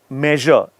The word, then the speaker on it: measure: measure it's measure so even though it's an S you pronounce it with a z let's take some practice